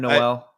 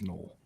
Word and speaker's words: Noel: And have I been the only one calling him Noel? No, I was calling him Noel early on in the process as well. But I think the correct pronunciation that he prefers is Knoll.